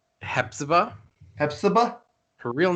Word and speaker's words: Hepzibah: Do we want to go to is it your turn to do the Hepisa? Hepzibah. Hepzibah? Her real name is unpronounceable, so you got to pronounce her fake name.